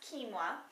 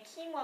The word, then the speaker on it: quinoa: take it to the grocery store but it's pronounced kinoa and kinoa what's so great about it it is a